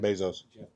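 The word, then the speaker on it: Bezos: Bzos.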